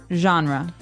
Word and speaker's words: genre: We say genre. Genre or genre. It kind of sounds French.